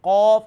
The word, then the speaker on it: قاف: You can tell me pronunciation Qaf and Kaf. Qaf is a full mouth letter, Okay.